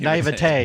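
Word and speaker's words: naïveté: The naivete, now that I know how to pronounce the word properly, naivete, yeah.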